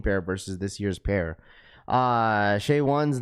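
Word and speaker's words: Shai: Raph, it's pronounced shy or Shay. My bad. SGA, Shay.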